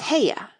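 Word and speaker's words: Haigha: happy his name is heya he pronounced it so as to rhyme with mayor i love my love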